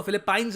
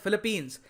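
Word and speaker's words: Philippines: इसको फिलिपाइंस नहीं बोलेंगे हम, इसकी करेक्ट प्रोनाउंसिएशन है फिलीपींस।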